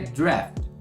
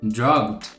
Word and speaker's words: draft: estou fazendo um rascunho é muito comum também que a gente acabe falando algo como drog ou alguma coisa nesse sentido porque também a forma que escreve né e a oitava